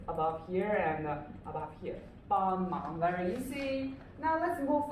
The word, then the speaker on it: 帮忙: This is 帮忙. 帮忙. So what's the tone? It's a 帮 first tone, 忙, yes, second tone. Okay, so 帮忙 first and second.